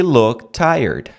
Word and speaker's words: looked: look tired look tired pode tirar o t looked tired vira look tired he look tired pode tirar tira o t sem medo vai seja feliz Facilite a sua pronúncia facilita a sua vida he looked tired looked tired Repete comigo vem vem beleza perde o medo de tirar o t Então vamos em frente